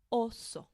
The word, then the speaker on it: oso: Gama espec insecto insecto oso and pay particular attention to this one because I hear some English speakers say it like this also and that's something we don't want to do okay so one short sound oso And then the U.